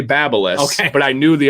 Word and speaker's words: BaByliss: i did find out that's officially how you pronounce it so take that everybody babyliss or something like a high-end one but look